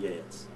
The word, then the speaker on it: Geat: We've not heard of Geats. The Geats have vanished. The G-E-A-T. G-A-T-S. And you pronounce it?